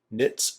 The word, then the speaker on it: knits: right into it guys knits and Knots tonight the K is silent as in knit nuts